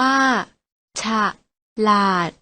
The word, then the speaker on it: ฉลาด: กัน นะ คะ เทฐาน ฉลาด ออก เสียง ว่า ฉลาด น้อง ก็ ต้อง ออก เสียง ดู นะ คะ